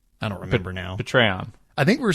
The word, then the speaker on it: Patreon: next but that's true it's not patreon it's patreon pay rhymes with hey ha ha you know